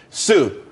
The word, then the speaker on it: Tsu: there's more money and everyone could be happy Sue CSU it's pronounced Sue though that's a that's a website dot Co